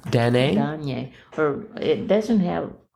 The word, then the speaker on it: Danae: Danae, D-A-N-A-E. Yeah. Mm-hmm. And, I'm sorry, how is it pronounced? I think it's Danae. Danae?